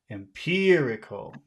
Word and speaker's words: empirical: syllable it would be very difficult to understand that word so it's really important to pay attention to which syllable has all of the stress empirical empirical how about evidence